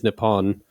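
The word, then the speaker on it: Nippon: stack exchange that since the pronunciation of the Japanese word in Japan is nepon um and if Japan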